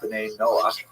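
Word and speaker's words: ben Noach: And this is basically a Hebrew term ben Noah for or Ben Noah is the way Jews would pronounce it.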